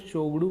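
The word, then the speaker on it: Tshogdu: भूटान की संसद को सोगडू कहा जाता है, इसमें टी साइलेंट रहता है, तो जरूर याद कर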